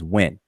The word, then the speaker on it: wn: These 2 glyphs are transliterated as WN, and the conventional pronunciation of this word is when.